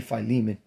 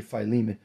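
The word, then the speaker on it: Philemon: F pH fimon filimon I say phiman that's how I pronounce the name um I say phiman what is it wealthy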